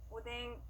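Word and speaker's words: おでん: 오뎅, 오뎅. 네, 좋습니다. 이렇게 이 행들 앞에 왔을 때는요, 니은과 이응의 중간 발음으로 소리가 납니다.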